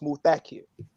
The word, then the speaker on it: Muthakir: So he told me it's pronounced Muthakir. And he told me that the accent is on the second syllable.